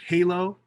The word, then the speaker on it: Hey, Low: of something new this is a piece called halo it's spelled h-e-y comma l-o-w the play-on word uh mixed-media on wood 60 by 60 inches uh from 2014.